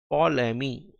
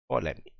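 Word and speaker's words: Ptolemy: scientist का नाम था पोलमी टी साइलेंट है पी टी ओ एल ई एम वाई पोलमी इस साइंटिस्ट ने कहा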